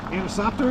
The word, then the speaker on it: Anisoptera: If you guys want a good laugh, go back to my last trout video and listen to me try to pronounce that. Anisoptera is the way you say it.